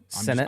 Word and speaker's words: Sanat: Sanat. they're getting mad at you because you're not saying it Senate. Cade. So Senate?